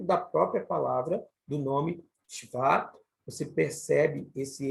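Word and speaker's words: שְׁוָא: Você percebe que ele é falado de forma muito rápida, esse E, e não Sheva ou Sheva, e sim Shva, Shva. Exatamente dando a entender que esse Shva, ele aparece de forma muito rápida.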